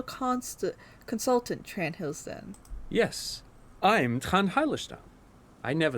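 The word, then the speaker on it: Trant Heidelstam: So Trent Hildestam turns out to be special consultant Trent Hildestam. Yes, I'm Trent Heilerstam.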